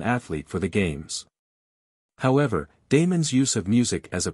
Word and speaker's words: Damon: tutor in music was Damon whose name they say should be pronounced with the first syllable short Aristotle however says that